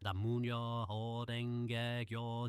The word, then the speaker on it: Namu Myoho Renge Kyo: Namu Myoho Renge Kyo, Namu Myoho Renge Kyo, Namu Myoho Renge Kyo, Namu. Now, syllable by syllable. Namu, na-moo, myoho, myoho, renge, kyo, kyo.